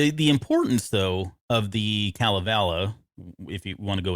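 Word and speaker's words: Kalevala: uh i think it's calavela uh yeah it's been actually pronounced two different ways kelvila oh okay and then calavela i think all right i think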